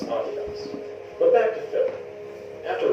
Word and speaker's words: Adidas: And by the way, that is indeed how you pronounce Adidas.